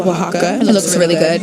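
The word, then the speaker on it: Oaxaca: Um so I was pronouncing it oax oaxa. That is not it. Waka going to safer till tomorrow. Thank you. So yep. Oh. Well, there we go. I I it is pronounced wajaka because it I'll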